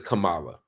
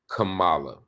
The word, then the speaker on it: Kamala: Trump's voice he says Kamala and all of the Republicans on TV often say Cala instead of Kamala he knows how to say her name this is not a